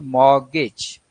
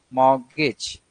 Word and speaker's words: mortgage: So it becomes mortgage, mortgage. So T is the word is not pronounced; it is silent. The stress is on first syllable, that is mortgage, mortgage.